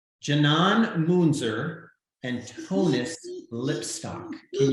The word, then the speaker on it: Canan: Tell everybody on Fright School how your names are properly pronounced. It's Canan.